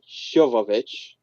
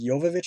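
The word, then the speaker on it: Jovovich: an evil with mila shovovich yeah did i get the name right uh well i guess it's pronounced technically it's yovovich i guess but okay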